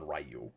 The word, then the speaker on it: Ryu: But yes, uh there was debate for years and years about how it's pronounced and the the the the fandom like people that actually play the games all settled on Rayu.